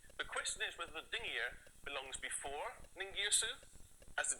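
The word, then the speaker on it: dingir: We pronounce it dingier when it means god.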